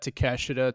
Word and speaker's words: Takeshita: How do you pronounce his first name? Konosuke Takeshita? Yeah, Takeshita. Yeah, it's just Takeshita.